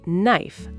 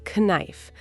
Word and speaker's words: knife: Be careful. The letter K is silent. We say knife, not knife.